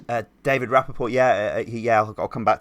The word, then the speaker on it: David Rappaport: is that how you say his name uh david rappaport yeah yeah i'll come back to him because